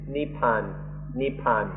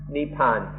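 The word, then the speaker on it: นิพพาน: In Thai this word is nepan nepan or in pali neipana or in written in the west we pronounce it more nibbana and then in Sanskrit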